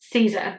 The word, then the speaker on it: SZA: It's spelled S-Z-A, but I believe her stage name is pronounced as Caesar, so bear with me.